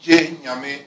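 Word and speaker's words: Gye Nyame: It's pronounced Genyame, and it means only God.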